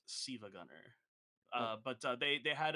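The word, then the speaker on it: SiIvaGunner: make Sil Sila Gunner I thought you said Shiva Gunner I'm like no it's it's it's pronounced sea Gunner uh but they they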